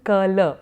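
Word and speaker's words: कल: Sanskrit, which is that when you're writing kal, in Sanskrit you would have written kala, because you're writing a full kala, but you're pronouncing it as kal, and therefore you have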